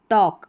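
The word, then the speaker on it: talk: तो यहाँ पर है ट ऑक, टॉक। अब यहाँ पर भी जो एल है के से पहले ये साइलेंट है, यहाँ पर साइलेंट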